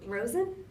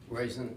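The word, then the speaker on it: Roizen: Rosen. Raisin. Raisin. Rhymes with poison.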